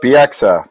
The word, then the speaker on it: Bieksa: how do you say your last name its Bieksa your clothes oh it's fanatical that's bxm belted